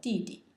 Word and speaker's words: 弟弟: younger brother is called 弟弟, 弟弟, and it's pronounced in the fourth tone, 弟.